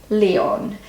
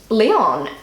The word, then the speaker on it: Leon: three is Leon and in German they pronounce it Leon and Leon um it's it's a